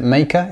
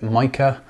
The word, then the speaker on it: Meike: is me i k Chinese brand I think they pronounce it maker in their videos other people will pronounce it Mah um looks a bit